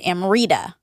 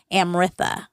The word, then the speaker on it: Amrita: So Americans read it as Amrita. Like if you're reading off the roll, it looks like Amrita. So that's how Americans would say it. But it's actually pronounced in India Amritha.